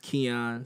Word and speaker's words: Xian: that was spilled a little funky but it's pronounced kyon so Xin underscore bill Twitter Instagram all that